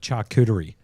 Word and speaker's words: charcuterie: I think it's like char, like charcoal, like charcuterie.